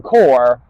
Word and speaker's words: Corps: Why is it pronounced Peace Corps, Marine Corps, but it's not spelt that way and the S is silent?